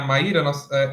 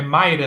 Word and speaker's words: Maíra: E a May Valentine, né, a Maíra, o nome dela nem pronuncia Maíra, é Mayra, não é isso?